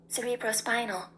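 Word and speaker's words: cerebrospinal: I think I said cerebrros spinal. I don't know. But this is how it is pronounced. Cerebrros spinal.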